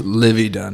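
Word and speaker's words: Livvy Dunne: But they're kind of like the Livy Dunn. Is that how you say it? Yes, Livy Dunn.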